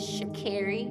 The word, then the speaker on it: Sha'Carri: So honestly, it's not that hard. Just Sha' And Carri. I know the spelling of it may make it seem like it's pronounced a certain way, but I feel like I've said it enough.